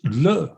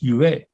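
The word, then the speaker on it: 乐: As Marian has just said, the Chinese character pronounced le for joy is the same as the Chinese character pronounced yue for music.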